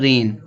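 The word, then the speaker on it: reign: तो जब एन से पहले जी आएगा तो जी साइलेंट होगा। इसको पढ़ेंगे नेट। नेट मींस होता है मच्छर। फिर आगे यहां दिया है रेन।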